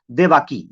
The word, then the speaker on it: देवकी: उसकी एक बीवी थी, जिस बीवी का नाम था देवाकी, या देवकी उसे कह सकते हैं। ये देवकी कह सकते हैं, ये देवाकी कह सकते हैं, ऐसी तरह प्रोनाउंसिएशन है, देवाकी या देवकी।